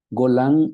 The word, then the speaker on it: Golan: es la ciudad de golan golan eh se lee igualito en el hebreo eh Y golan lo